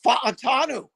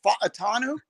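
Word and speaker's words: Fautanu: do we think TR fanu Troy fanu you have to say it the Polynesian Hawaiian way isn't it f atanu I hey I know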